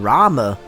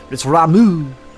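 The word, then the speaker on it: Ramuh: returned unto the forest oh that's how you say it I've been saying Rama almost like Ramen ramu he's a cow scarce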